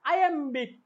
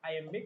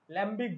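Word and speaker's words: iambic: এই জিনিসটা এটা হচ্ছে আইএমবিক প্যারামিটার প্যান্ডামিটার আইএমবিক প্যারামিটার প্যান্ডামিটার এটার উচ্চারণক কিন্তু আই এম্বিক ঠিক আছে মানে কি এল ভাবো এটাকে ল্যাম্বিক বলে ফেলো না এটা আই এম্বিক ঠিক আছে আই এম্বিক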